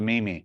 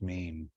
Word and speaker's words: meme: word so I'll know why it's pronounced meme instead of Mimi well this one housing